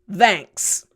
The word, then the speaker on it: thanks: Number 6, thanks. Simple, right? I'm sure you've heard this before, but for pronunciation practice, here we go. Thanks. Nice. Stick that tongue out through your teeth.